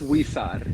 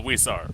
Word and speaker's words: Huizar: I'm gonna fuck up your last name. I'm used to. it. It's Wisar. It's kind of pronounced like It's if there's a Huizar. W. Yeah. Yeah. Yeah. Oh, Huizar.